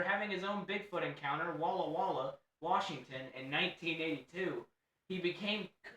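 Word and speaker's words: Walla Walla: After having his own Bigfoot encounter, Walaw Wala, Washington, in 1982, he became Why'd you jump? Cuz you pronounced it right. I pronounced it correctly. I was proud of you. I was expecting whala Washington.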